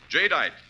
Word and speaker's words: Jadeite: Remember the name Jay Dite. That's spelled J A D E I T E.